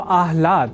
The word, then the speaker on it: आह्लाद: समझकर या न लिखकर हम आह्लाद अर्थात पहले ह और बाद में ल इस अक्षर विन्यास से युक्त शब्द आह्लाद का ही लेखन और तदनुसार शुद्ध उच्चारण करेंगे।